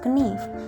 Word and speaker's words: knife: In Middle English, it was pronounced knife, but after the vowel shift, the K becomes silent and the E turned to the diphthong I.